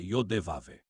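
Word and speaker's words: Yahweh: A pronúncia correta é yáve.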